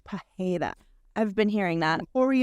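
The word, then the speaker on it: Pereira: the pronunciations correctly but I believe that the Brazilian R is more like a h like like Alex Pera is I think it's Alex Pera I've been hearing that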